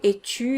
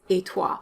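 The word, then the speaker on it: et toi: means you in french a lot of people say a true in french which is incorrect because tu is a subject pronoun that means it needs to be connected to a verb and there is no verb in the question how about you in french etois so you need to use a stressed pronoun how about me would be emua and how about you is etua when it's informal come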